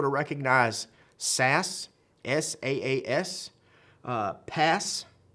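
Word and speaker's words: PaaS: recognize sas s-a-a-s uh pass i guess you say it like that p p a a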